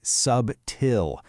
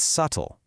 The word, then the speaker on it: subtle: They want to say subtill. But that B is another one of those silent letters. You just drop it. It's subtle.